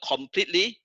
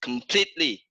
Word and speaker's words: completely: Okay, the next one is not completely, it's completely. And the second syllable is stress.